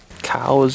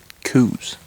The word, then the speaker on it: Coues: should be a scientist cows is technically the proper pronunciation although most who hunt them pronounce it coos like c-o-o-z what in the world